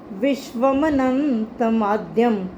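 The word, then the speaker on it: विश्वमनन्तमाद्यम्: तेजोमयम विश्वमनन्तमाद्यम, ये ध्यान से सुन लो। विश्वमनंत माध्यम शब्द है विश्वम प्लस अनंतम प्लस आद्यम, लेकिन हम इसको पढ़ेंगे तेजोमयम विश्वमनन्तमाद्यम यन्मे त्वदन्येन।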